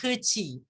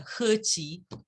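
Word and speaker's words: He Qi: yeah thank you and his name is pronounced herchee not to be pedantic but uh these chinese characters are herchy good thank you for i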